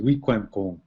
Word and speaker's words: Wikwemikong: And then you see how the Anglicans spell it with a W-E-Q-U-A, and that Q-U would be K-W. And then now how we would actually say it is Wikwemikong.